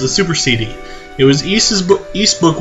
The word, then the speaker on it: Ys: It was Eese Book 1 and 2, and that's how you pronounce it. Eese. Kind of like geese, but without the G.